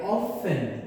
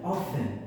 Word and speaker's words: often: After school, I often often uh the T is silent. Often often.